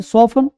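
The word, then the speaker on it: soften: टी क्या जल्दी करना हेशन है ना सॉफ्ट सॉफन ऑफन अक्षर प्रया लिसन ध्यान से सुनना तो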